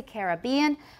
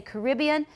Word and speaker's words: Caribbean: example it says that british speakers tend to say caribbean americans say caribbean but this is not really valid all the time because i say both i say a caribbean cruise it sounds more romantic i'll say the caribbean sea but a caribbean cruise